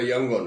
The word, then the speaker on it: ইয়াঙ্গন: আপনারা জানেন মায়ানমার, বা আগে যেটার নাম ছিল বার্মা, যার রাজধানীর নাম ছিল রেঙ্গুন, এখন নাম হয়েছে ইয়াঙ্গন, উচ্চারণটা ইয়াঙ্গন ওদের ভাষা অনুযায়ী।